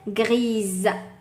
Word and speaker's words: grise: Et une chaussette grise. Grise, je rajoute le E et se prononce Z.